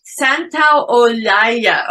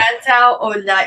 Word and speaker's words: Santaolalla: Santaolalla. Okay. Yeah, that's the way. Yeah. Santaolalla, because I just won't say his name because